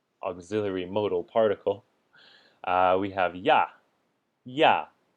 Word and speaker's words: 呀: Again, this is usually neutral tone. You can say ya with the first tone or apparently xia with the first tone. I've never heard that pronunciation personally, so it's usually just neutral tone ya.